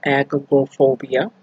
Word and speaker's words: agoraphobia: I also suffer from a little agoraphobia.